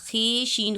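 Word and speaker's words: خوش: खुश का जो वाव है वो साइलेंट है, लिखा जाता है, पढ़ा नहीं जाता। खे शीन खुश पढ़ा जाता है, खुश।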